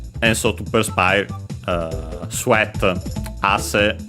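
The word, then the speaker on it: あせ: so to perspire, sweat, ase, accent on the first syllable, means sweat, and yeah, that's why.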